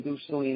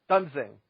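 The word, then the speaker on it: Duensing: mind was, well, why are you not leaving Duseling in to, am I pronouncing his name correctly, Brian Duseling? Why are you not leaving him in to pitch to Devon Travis? I'm sorry, what's his name? Dunsing.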